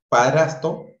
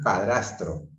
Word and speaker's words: padrastro: Es incorrecto decir padrastro, padrasto, cuando lo correcto es decir padrastro.